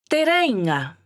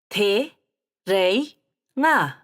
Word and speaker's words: Te Reinga: a chance for you to take a tour of Aotearoa, practicing your pronunciation on the way. Let's start with Cape Reinga and head south. Whakarongo mai. Te reinga, Cape Reinga. Te reinga, te reinga.